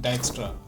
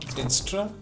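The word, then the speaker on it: Dijkstra: Quick fun fact Dra was a Dutch computer scientist and it's pronounced Dextra not Dra that we used to pronounce in college.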